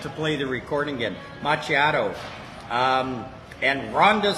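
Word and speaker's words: macchiato: I may have to play the recording again machiato um and Ronda says good evening Dave and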